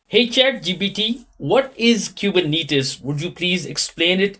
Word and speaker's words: Kubernetes: running smoothly is it cuetes or kubernetes it's pronounced kubernetes the name comes from the Greek word for